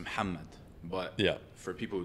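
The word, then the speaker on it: محمد: reason okay so like obviously in Arabic it's pronounced muhamad but yeah for people who don't speak like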